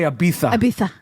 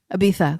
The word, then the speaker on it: Ibiza: And the captain loves to say Ibiza. Ibiza.